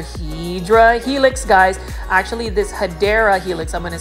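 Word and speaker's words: Hedera helix: we have another hedra Helix guys actually this hadera Helix I'm going to say it correctly is a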